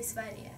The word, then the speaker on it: Sverige: We say Sverige.